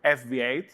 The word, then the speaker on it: FV8: to present to you fv8 uh which actually is pronounced favorite if you put a lot of imagination into it uh which is um